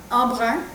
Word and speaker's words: Embrun: Wait, are you pronouncing it the French way? Embrun. That's the French way. Yeah. Well, yeah, the right way.